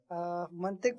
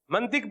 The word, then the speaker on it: منطق: منطق پڑھا رہا ہوں ابھی. منطق پڑھا رہے ہیں. یہ لفظ منطق نہیں ہوتا, یہ لفظ منطق ہوتا ہے.